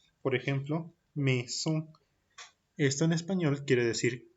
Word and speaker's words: maison: Para la combinación AI, para la combinación de letras AI, la pronunciación será E, la pronunciación será una E. Por ejemplo, maison, por ejemplo, maison.